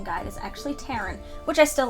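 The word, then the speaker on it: Taran: read the story I thought the name was pronounced Turan which i think is also a neat way to pronounce it but the author's pronunciation according to his pronunciation guide is actually Terran which I still like the series is kind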